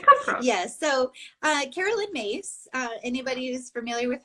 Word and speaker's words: Myss: yes so uh carolyn mace uh anybody who's familiar with her work her last name spelled myss but pronounced mace and she's her workout